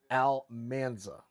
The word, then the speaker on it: Almanza: If you ever want to say my last name, it's pronounced Almanza.